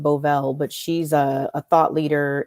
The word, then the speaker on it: Bovell: I think her last name is pronounced Bovell, but she's a thought leader in tech and futurism and so on.